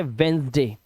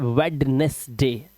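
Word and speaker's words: Wednesday: silent है ठीक है हमारा य डी साइलेंट पढ़ते वेनसडे सिर्फ वेनसडे लोग बोलते हैं वेडनेसडे डी नहीं वेनसडे वेनसडे बुधवार ठीक है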